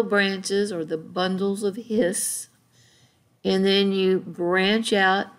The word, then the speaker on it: His: called the bundles of hiss and it's spelled like his and hers h.i.s but it's the bundle of hiss and you can see